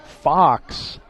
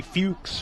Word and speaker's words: Fox: I'll still mess up some names, but that one in particular, Abraham Fox, if I saw that name, it would be Fuchs or Fuchs. Yeah. And it's not.